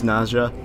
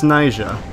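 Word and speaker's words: Naija: you sing those beats Naja I've been pronouncing her name really incorrectly throughout the entire game it's nja I mean the Creator is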